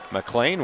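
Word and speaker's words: McLean: is picked off by Mlan. Mlan's last name is spelled Mlean, C L E A N, but pronounced Mlan, wearing number 27 as the second line center,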